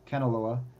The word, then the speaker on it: Kanaloa: kanala kanaloa network um kanaloa i like that because it rhymes with cannabis and if you need